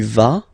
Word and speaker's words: vas: Basically, you pronounce it like for the tu, because you don't pronounce the final S, okay, il va, elle va, okay, je vais, tu vas, il va, elle va.